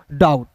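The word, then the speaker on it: doubt: जब भी किसी वर्ड्स के बीच में ओ यू दिखेगा तो ओ यू का उच्चारण औ के रूप में करेंगे। तो यहां देखिए ओ यू है ना? तो ओ यू यू का उच्चारण आउ डाऊ। और दोस्तों बीटी का उच्चारण ट के रूप में करेंगे तो हो जाएगा दोस्तों डाउट।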